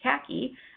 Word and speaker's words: CACI: named Denise who is a senior manager at kaki which is spelled CACI where she runs the companies disabled